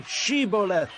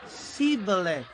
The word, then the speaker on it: Shibboleth: They said, All right, say Shibboleth. If he said, Sibboleth. Because he could not pronounce the word correctly, they seized him and killed him at the fords of the Jordan.